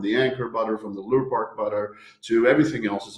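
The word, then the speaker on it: Lurpak: Just call it Lure Park. Lure Park. That's the Danish way of pronouncing it.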